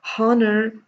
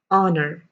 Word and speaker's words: honor: these are really important if you have been pronouncing it as horner stop that right today and pronounce that as honor and this as honest air